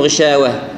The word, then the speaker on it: غشاوة: نأتي الهاء وعلى ختم الله على قلوبهم وعلى سمعهم على أبصارهم غشاوة غشاوة، إذا وقفت عليها غشاوة ما نقول غشاوة، يعني كأنك الهاء حذفتها وخليت غين وشين واو عليها فتحة غشاوة كذا بالضبط، بينما تقول غشاوة وه معناها الحرف الهاء موجود.